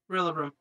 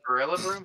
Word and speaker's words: Rillaboom: Rillaboom. Ooh. Spicy. That's a good Mr. Tom? Hey, is it Rillaboom? How do you spell that? I'm so sorry. R-I-L-L-A. Gorilla Boom. It's Gorilla Boom, but there's no gore.